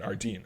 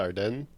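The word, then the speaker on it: Ardennes: So Elizabeth Monroe took it upon herself to personally visit uh uh Adrian I keep saying Ardan. I don't know why. I'm think of the forest. The Arden.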